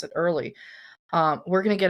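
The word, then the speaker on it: Oehrley: She says, "Pronounce it early."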